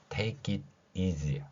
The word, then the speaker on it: take it easy: T는 티읕이고요. A는 A, K는 키읔, E는 E, 그 다음에 I는 E로 소리 나고요. T는 티읕, 그리고 EA가 E라는 발음이 나죠. S 소리가 영어의 Z 소리입니다. Z.